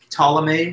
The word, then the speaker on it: Ptolemy: tried to do that his name was ptolemaine so with the silent p at the beginning ptolemy basically start by pronouncing the letter t in that but what ptolemy did